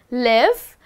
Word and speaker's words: live: Ooh, now again, we are going to look at the word, which is spelled as L-I-V-E. But guess what? The pronunciation is different. We are not saying live, but we are saying live.